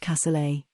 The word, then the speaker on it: cassoulet: If you'd prefer beans to rice, why not try a French cassoulet? Pronounced cassoulet, it's traditionally a simple country meal of beans and meat, with a few of your favorite vegetables.